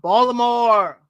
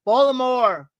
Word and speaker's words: Baltimore: Yeah, they're from Baltimore. I hope I said that right. April be Baltimore. Our cousins in Baltimore say it's not we don't pronounce the T.